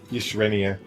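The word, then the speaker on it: Yshrenia: The Y is pronounced like an I. Yishrenia.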